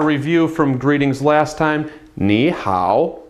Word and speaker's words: 你好: 你好. Again, two third tones in a row. If you pronounce them quickly, 你好, no one's going to know the difference and everybody's going to understand you, I promise.